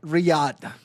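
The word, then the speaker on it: Riyadh: I mean, uh and it's pronounced Riad. Riyad.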